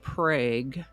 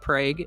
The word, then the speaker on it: Prague: That Prague is pronounced differently from the town of Prague in Oklahoma, sort of like the